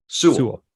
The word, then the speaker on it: Sewall: Sewell.